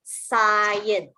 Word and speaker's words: cyan: So the Y here reads the I sound, cyan. Okay, this word is a color. close to blue, so it's cyan.